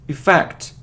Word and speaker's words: effect: It isn't affect or it isn't effect, it's effect, effect. The stress is on the second syllable, okay?